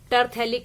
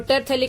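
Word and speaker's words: terephthalic: और टेरथैलिक एसिड का मतलब क्या है, ये 1-4 पोजीशन पर हो जाएगा, 1, 2, 3 एंड 4। ये क्या हो गया, टेरिथैलिक एसिड, पी साइलेंट है यहाँ, टेरिथैलिक एसिड।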